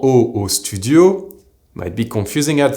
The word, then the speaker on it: au: The words in French for WATER, UP, and the preposition AT singular and plural are pronounced exactly the same way. So, WATER is EAU, UP is HAUT, and AT is AU, or AUX plural. It’s also the same as the letter, O.